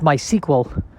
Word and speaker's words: MySQL: mysql but i believe it is pronounced my sequel as if it was spelled uh s-e-q-u-e-l and i don't know